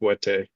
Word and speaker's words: Bwiti: I'm sharing about the Bwiti tradition. It's actually pronounced Bwete also.